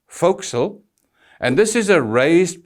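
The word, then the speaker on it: forecastle: and please note it's spelled for Castle but pronounced fil and this is a raised part on the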